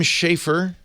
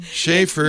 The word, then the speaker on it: Schaefer: That is Schaffer. Schaffer. I'm sorry. How long have we worked together? I'm sorry. 3 years plus. It's spelled Schaefer. Schaefer You know what?